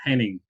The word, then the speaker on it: Henning: yes uh sometimes uh some people call me honey so i say that's wrong i'm not honey i'm a henning so so i'm kind